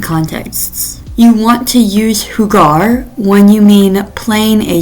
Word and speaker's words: jugar: So listen to how I pronounce hugar. That u makes a u sound har. When we replace it with ue e, that sounds then becomes huear.